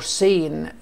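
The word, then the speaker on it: Seine: عندي ذا ريفر سين، ذا ريفر سين. النطق الكلمه دي حبايبي سين اللي هو بنقول عليه نهر السين في فرنسا.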